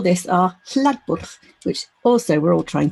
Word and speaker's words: hlaðborð: to this 24-hour event so we call this areb which also we're all trying to pronounce correctly in Icelandic so in Icelandic that